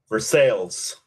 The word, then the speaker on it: Versailles: Vers sales. Ah, look at you. You are correct. It is for sales.